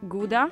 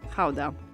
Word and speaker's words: Gouda: Depending on whether you're a native, you will pronounce it either Gouda or Gouda. So since we're talking about authentic Dutch cheese, we're going to call it Gouda.